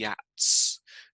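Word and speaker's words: Geat: the land of the yats now you spell the at like this but i'm i'm told that yat is how you pronounce it oh hang on let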